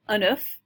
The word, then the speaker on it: œuf: Le beurre, le lait, les œufs, and if you have just one, you'd say un œuf. So the F would be pronounced with one egg, un œuf, but plural, les œufs.